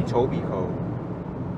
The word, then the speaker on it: Etobicoke: Etobicoke.